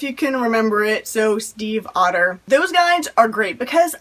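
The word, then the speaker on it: Stiefvater: his website just like maggie steve otter she says steve like the name i don't like the animal it's not steve fodder or anything weird and crazy it's pretty simple if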